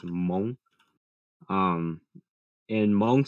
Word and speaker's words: Hmong: m o n g the h is silent so it's monk um in hmong spelling